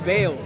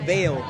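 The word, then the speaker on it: Vael: I'm Vail. How do you spell that? V-A-E-L, Vail.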